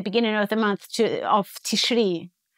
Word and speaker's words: Tishri: Then you need to postpone the beginning of the month of Tishri. Right. And the medieval pronunciation, by the way, is not Tishrei, it's Tishri.